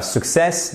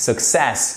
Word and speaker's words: success: C'est pas success, non, c'est success. Vous avez ici votre accent tonique sur la seconde syllabe.